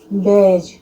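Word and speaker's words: badge: बेज, pledge, इन सब में D silent होता है।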